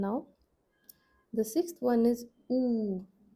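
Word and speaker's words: ऊ: Now the sixth one is ooh. Now we note down the long sound for this wobble. Long double o sound.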